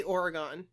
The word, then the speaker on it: Oregon: So Kristine, tell us how to pronounce Oregon. Your home state, please. I'm going to say Oregon. I live in Oregon.